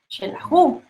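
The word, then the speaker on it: Xelajú: Y entonces el fonema suena como SH, pero lo correcto es con X, como Shela, Shelahu, ¿verdad?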